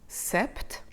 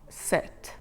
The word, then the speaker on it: sept: And 7, this time we actually do not pronounce the P, so not the final letter, the letter before that. So 7 is not pronounced sept, as in September.